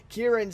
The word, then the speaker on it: Ciarán: urine sins cure and sins so I was pronouncing it wrong big surprise there but anyway ciarán sins it is and I obviously he's gone